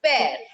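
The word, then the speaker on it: père: is given tell me very good it is pronounced as pair pair means father this is mar mar means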